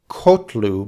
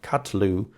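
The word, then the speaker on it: קָטְלוּ: Similarly, in the third common plural form, we have katalu, which is not kotlu, but katlu. It's a long A vowel rather than the short O that you expect sometimes in a syllable like this.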